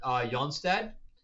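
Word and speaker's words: Johnstad: And then Kurt Jonstad, it's spelled John, but I think it's Jon.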